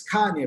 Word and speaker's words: Kanye: now all i need is you all to pronounce my name it's kanye but some of my plaques they still say